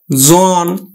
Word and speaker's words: জন: উচ্চারণ করি বোন জন আমরা উচ্চারণ করি কিন্তু জোন কিন্তু কিন্তু ধনক কখনো